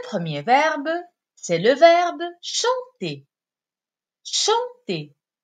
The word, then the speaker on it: chanter: Le premier verbe, c'est le verbe chanter. Chanter, qui se termine avec ER. ER, qui se prononce et.